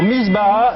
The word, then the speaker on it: misbah: Oui, c'est ça, mais comment prononcez-vous Misbah. Alors, misbah, M-I-S-B-A-H-A.